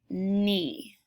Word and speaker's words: knee: And our last spelling we're working on is the sound spelled with the KN, like in the word knee.